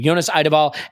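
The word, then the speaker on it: Jonas Eidevall: You had the chance to interview, please help me with the pronunciation. Jonas Eideball, thank you. Jonas Eideball, after the game.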